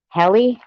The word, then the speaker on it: Heli: pretty hey pretty girl heli oh like helicopter uh heli okay okay